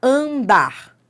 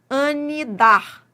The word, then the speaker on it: andar: Por exemplo, ó, andar. Isso é um dígrafo, tá? Mas vamos entender a lógica. Por que que é um dígrafo andar? Porque você não pronuncia o N.